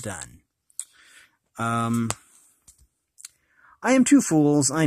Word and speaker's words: Donne: triple fool by John Donne I believe it's pronounced done I am too fools